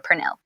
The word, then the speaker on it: Pernille: I get Pernille a lot, which is fine. I don't get offended. It's, it's a Danish foreign name, so there's technically not a correct way to pronounce it in English. So, but I prefer Pernille.